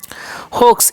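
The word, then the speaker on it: hoax: होक्स, इसे हम क्या पढ़ेंगे? होक्स, ठीक है। एक्स का उच्चारण अक्सा हो जाता, हो गया होक्स, ठीक है।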